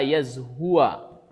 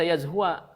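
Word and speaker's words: يزهو: Hatta yazhua, sampai kemudian yazhua. Qila, lalu dikatakan wa mayazhu. Nah, yang ini bukan dibaca yazhua. Nah, yang ini bukan dibaca yazhua, tapi dibacanya yazhu, sukun ya.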